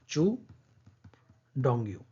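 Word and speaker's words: Qu Dongyu: ये क्यू लिखा है लेकिन इसका प्रोनाउंसिएशन ये होगा चू डोंगयू।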